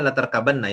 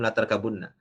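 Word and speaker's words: لَتَرْكَبُنَّ: Nah, ada yang mentakwilkan, ini tetap cara bacanya latarkabanna ya, belum latarkabunna.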